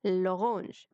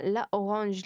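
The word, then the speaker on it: l'orange: ماشي بس احنا قلنا لو هي مؤنث بس مبدوءة بفويل مفرد مؤنث يبقى نحط لها الألف لا أبوستروف عشان تتنطق لورانج. لورانج تنطق بسرعة، مش اسمها لا أورانج، لا هم عايزين ينطقوها بسرعة.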